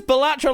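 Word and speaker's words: Balatro: Anyone up for some Batro after this? Hey, it says Batro like that rather than Batro, which is apparently the right way to say it.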